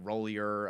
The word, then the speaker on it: Roulier: I don't know how to pronounce it. Was it Rollier? I don't know how to. The center. Chase Roulier.